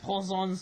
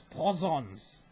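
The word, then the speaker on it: poisson: don't know i believe poisons mean fish i believe it sounds like poison but it's poisons and that's how french people say the word fish i believe right but uh it rhymes with croissants actually looks very very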